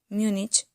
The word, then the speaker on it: Múnich: las reglas del idioma por lo tanto múnich lleva tilde en la u manchester en español según